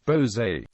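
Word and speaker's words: Bolsover: Derby or Manfield and bover which is pronounced locally as Bose in North Nottinghamshire the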